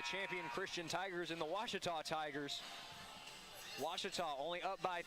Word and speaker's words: Ouachita: Back in Texas, everybody pronounces it Wichita, but really, it's Ouachita. Ouachita. How would you pronounce it? Ouachita. Washita.